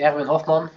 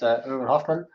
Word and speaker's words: Erin Hoffman: my name is uh in Dutch I would say Erin Hoffman in English it's well let's keep it at irin Hoffman might be a bit more convenient and easier to pronounce um I've been a